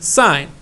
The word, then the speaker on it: sine: see si am but you're going to pronounce it as its full name sign the full name for